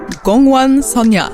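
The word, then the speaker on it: 공원소녀: It's from an Ago girl group, and Stephanie, I'm going to need you to help me pronounce the name here. That would be Gongwon Sonya.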